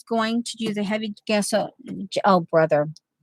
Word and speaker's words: gesso: to tease me about gesso. Well, I read an article one time that said you pronounce it like guess who, gesso, you know.